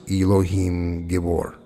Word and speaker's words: Elohim Gibor: Elohim Gibor, pronounced Elohim Gibor.